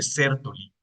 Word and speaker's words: Sertoli: sertoli Sí o sea por la la pronunciación debería llevar una tild aquí creo que es de denominación francesa Pero bueno las células de ceroli estas células de ceroli